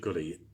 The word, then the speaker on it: Gully: ahead those who know Bishop Gully pronounced to rhyme with fully so let's remember that Gully rhyming with fully uh well speak of